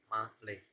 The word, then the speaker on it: Malé: It's uh, it's type as male, as gender male, but actually it's not pronounced male or male, but it's pronounced Malay.